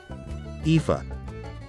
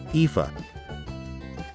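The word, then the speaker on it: Aoife: pronounce this name ifa let's repeat ifa once again ifa how exactly do we pronounce this name kuiva let's repeat cuiva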